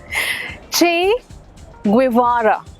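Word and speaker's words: Che Guevara: सब कहते हैं छे। आगे क्यों नहीं बोलते? क्योंकि पता ही नहीं आगे नाम बोलना कैसे है। छे ग्वारा छे ग्वारा दैट्स द करेक्ट प्रोनाउंसिएशन।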